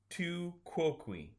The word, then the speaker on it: tu quoque: I'm perfectly happy making crap up all the time, but Ben had to look up the pronunciation online. On Wikipedia, it says tu quoque.